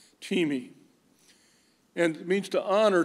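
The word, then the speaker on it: τιμή: and it's spelled t-i-m-e you would think that that is time but it is teemi teami and it means to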